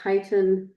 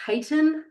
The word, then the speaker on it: chitin: Cellulose, plants as structure, and chitin, this is in fungi, and arthropods. So like insects, spiders, crabs, and stuff as their exoskeletons. So this word is pronounced chitin, not chitin. I know Greek did that.